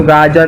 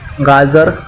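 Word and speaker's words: ग़ाजर: इसको गाजर नहीं गाजर बोलते हैं, ज के नीचे एक छोटा सा बिंदु, गाजर।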